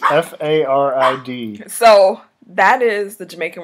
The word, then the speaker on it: farid: But you have to take into account this is spelling it with the accent, so you're okay.